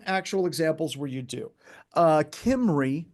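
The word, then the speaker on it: Cymru: Kimry, or some people call it Crimu, but it's Kimry is how it's pronounced, because it's Welsh.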